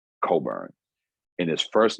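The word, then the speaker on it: Cockburn: um his last and his last name is is not spelled like it sounds it's u r c-o-c-k-b-u-r-n coburn and his first name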